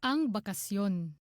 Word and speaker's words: ang bakasyon: Ang bakasyon. I mean, it does sound kind of like un, but the G is like said. If you listen closely, the G is pronounced.